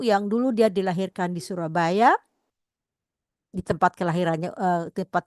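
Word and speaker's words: Soerabaja: di Belanda begitu ya Ee y dibaca eh J itu dibaca y Surabaya kita lihat juga ejaan lama adalah o e dibaca u jadi Surabaya ya nah terlihat lagu ini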